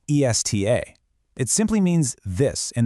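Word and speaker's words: está: Take esta, pronounced e s t a. It simply means this in the feminine form. But, add an accent mark and shift the emphasis to the second syllable, esta, pronounced e s t h a.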